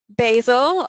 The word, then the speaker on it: basil: Basil, or basil as we would call it in England, the American pronunciation is basil, so there's a bit of information for you if you didn't know that.